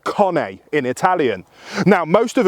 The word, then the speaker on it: Cane: spelled like our word Kane but it's actually pronounced Kane in Italian now most have agreed that Kane is the preferred way of saying it but some still go with how it's spelled and opt for Cain and that is fine the second slightly lesser